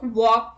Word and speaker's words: walk: look at the rule l is not pronounced after the vowels a o and u let's look at the examples calm half talk walk would should could cough